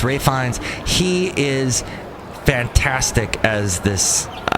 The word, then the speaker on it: Ralph Fiennes: And then Ralph Fiennes, always want to call him Ralph because it's spelt that way, but it's Ralph Fiennes.